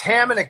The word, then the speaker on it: Atamanuik: And am I pronouncing it right? ATAMANUIK? It's ATAMANUIK, but that's okay.